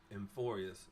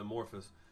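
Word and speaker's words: Amphoreus: Emphorious. I called it Amorphus. Dang it. Indeed, I pronounced it wrong.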